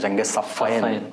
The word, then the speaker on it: صفین: جنگ صفین کہتے ہیں, یا بات صحیح اس کا تلفظ کرتے ہیں جنگ صفین, کہ 2 صفیں, ایک صف ادھر ہے ایک صف ادھر ہے.